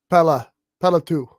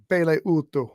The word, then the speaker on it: Pele Utu: The host of the show, I think, said Pela 2 or something like that. No, it's Pele Utu.